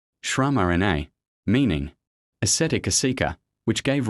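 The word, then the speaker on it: Śramaṇa: meditations of the Upanishads to the Rama movement, pronounced Shramarana, meaning ascetic asika, which gave rise to Buddhism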